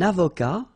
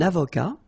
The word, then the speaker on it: avocat: Un avocat, so remember, liaison here and then final T not pronounced, okay? Un avocat.